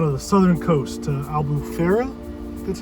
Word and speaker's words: Albufeira: gonna go down to the southern coast, to Albufeira, that's how you pronounce it, to Algarve.